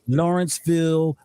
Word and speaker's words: Lawrenceville: i see it right you said it right lawrenceville the va and i already know how it